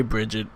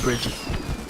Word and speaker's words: Brigitte: Her name is Brigitte, but you could say Bridget. At the end of the day, nobody's going to pronounce it with the accent. Even though there's no D in the word, they're going to still pronounce it Bridget.